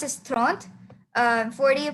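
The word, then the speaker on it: trente: And 30 you pronounce it stront.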